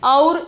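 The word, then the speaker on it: और: Then the 20th one we can see aur. We can see aur, evam, tada. The pronunciation is aur, evam, tada.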